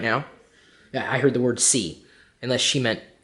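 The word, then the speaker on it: sí: I heard the word c unless she meant s e that's English see C in Spanish is yes but it's spelled SI I with a wacky little accent mark over the eye they just love their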